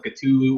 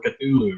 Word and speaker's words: Cthulhu: about the pronunciation of Cthulhu or Cthulhu, right? From what I understand, there is no correct pronunciation of it. It's either Cthulhu or Cthulhu, and actually they're chaos